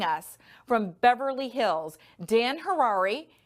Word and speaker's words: Harary: from beverly hills dan hirari his name sounds like rhymes with ferrari hi dan that's how